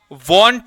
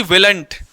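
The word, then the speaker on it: won't: एकदम कैद कर लेना इसको वांट कहते हैं ना कि विलेट मैक्सिमम स्टूडेंट ने विलेट बोला है विलेट नहीं विल प्लस नॉट को वांट बोलते हैं क्या बोलते हैं वांट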